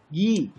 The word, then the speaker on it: ghee: But there are some other words like ghost, ghee. The letter G is pronounced while the letters H is silent.